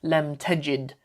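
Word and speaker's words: لم تجد: present tense, but because we've said lem tajid, we've kind of squeezed that dhamma on the end, and it gets pronounced like a sukoon.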